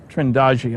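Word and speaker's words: Trindade: And here's a sequence from Trindadi. Trindagi, I'm told it's pronounced, 600 miles east of the coast of Brazil.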